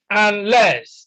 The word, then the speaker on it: unless: Now, C is unless, unless. Again, stress is on the second syllable because the first syllable is a prefix.